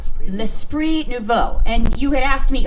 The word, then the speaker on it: L'Esprit Nouveau: How do you pronounce it again? It's really... Okay, so it's called L'Esprit Nouveau. L'Esprit Nouveau.